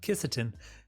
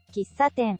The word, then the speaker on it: kissaten: Rolling up to the 1900s, you would start seeing shops called kisaten springing all up over Japan. Is it actually, how's that pronounced? Kisaten.